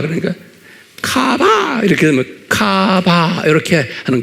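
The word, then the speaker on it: קָוָה: 히브리 말로 뭐로 되냐면 쿠, K가 아니고 Q예요. 그러니까 발음을 Q예요. 카바하, 이거 H, 하, 그러니까 카바, 이렇게 되면 카바, 이렇게 하는 거예요.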